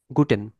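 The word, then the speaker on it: Guten: গুটেন, গের পর ও আছে, গো, গো, ঠে, এ, এন, গুটেন।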